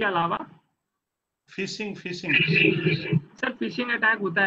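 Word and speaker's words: phishing: मछली आके फंसे, उसको फिशिंग अटैक बोलते हैं सर। कई लोग उसको पुशिंग अटैक भी बोलते हैं, गलत प्रोनाउंस करते हैं।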